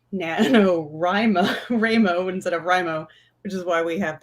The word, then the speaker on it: WriMo: So you're here for NaNoWriMo 101, which our old ML Brad always pronounced it Ramo, NaNoWriMo instead of Rimo, which is why we have the you say Ramo, I say Ramo.